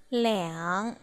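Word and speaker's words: 两: Khi số từ 2 đi với lượng từ, chúng ta sẽ đọc là liǎng.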